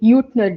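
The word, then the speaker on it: Jüttner: And to account for that, instead of the Maxwell Boltzman distribution, we use something called as the Maxwell Utner distribution. The name Utner is German, hence the pronunciation.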